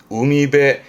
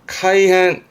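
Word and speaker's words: 海辺: 근데 발음이요. 음미배. 우미배. 이때는 배로 가요. 음미배. 이거를 음으로 카이헨. 카이헨도 합니다만는 뭐 굳이 본다면 해변은 카이헨, 바닷가는 우미배 그런 느낌인데 같은 뜻이에요.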